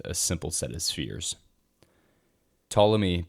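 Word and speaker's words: Ptolemy: simple set of spheres tmy by the way is spelled with a p at the beginning p t o l m y this guy was more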